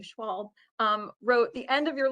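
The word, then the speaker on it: Schwalbe: Will Schwalb, I want to say his name correctly, Schwalb, wrote The End of Your Life book club, which still has stuck with me after all of these years.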